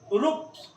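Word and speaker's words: ropes: यदि किसी शब्द के अंत में एफ आ जाए, पी आ जाए, पी आ जाए, टी आ जाए, ये सब वर्ण हो, इसके बाद एस आ जाए तो इसका उच्चारण क्या होगा? स।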